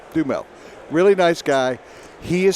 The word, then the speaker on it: Duhamel: I think it's Duhamel or Dumel. Yeah. Dumel.